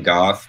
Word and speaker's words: Gough: gotta check him out his last name is spelled G Oh ugh Erin goth makes an incredible knife he's